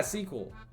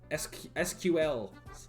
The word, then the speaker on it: SQL: imagine you more familiar with all the yeah sequel sequel sql yes is it wrong to pronounce its sequel is it meant to be